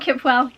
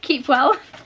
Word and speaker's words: Kipwell: Oh, I've just read this note and it's apparently pronounced Keepwell. So not Kipwell, Keepwell.